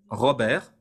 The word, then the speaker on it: Robert: vous voyez vous tapez Robert Robert comme ça se prononce avec un T à la fin Robert r o B